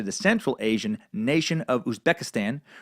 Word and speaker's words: Uzbekistan: Central Asian nation of Uzbekistan which borders Afghanistan and rhymes with Kazakhstan and for some reason